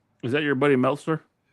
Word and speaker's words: Meltzer: You say I'm David Meltzer. You say his government name. His name His name rhymes with pretzel.